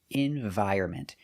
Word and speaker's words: environment: So remember, pronunciation, environment. The N is silent.